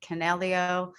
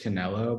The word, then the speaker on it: Canelo: move is being debated am i saying it wrong is that why you're laughing i think so i think it's just canelo but canelo okay um